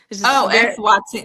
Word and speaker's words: Eswatini: So it's the Kingdom of Eswatini. Eswatini. Yes, you're right.